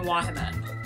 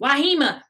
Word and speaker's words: Wahima: I have always been Wahima. One entire side of my family just completely says my name wrong. Wahima.